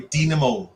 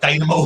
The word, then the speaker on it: Dinamo: I got that wrong yesterday. I was like Dynamo. That was the people thought I was talking about the magician. Yeah. We went on to Google pronounce, and it came up saying Dynamo, but no. Yeah, it came up saying Dynamo, but I think it is Dinamo. I think that's how you're supposed to pronounce it.